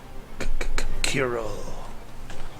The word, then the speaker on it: Kirill: Kirill with the hard K. Does I pronounce like that with a bunch of K's? Kirill.